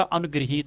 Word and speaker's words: अनुगृहीत: है इसमें यहाँ पर, और ये जो है री का उच्चारण है, तो इसमें जो है ये री का उच्चारण होगा, अनुगृहीत होगा।